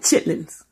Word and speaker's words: chitterlings: I got the motherfucking chitterlings, as it's spelled chitterlings. But, you know, black folks, we call it chitlins.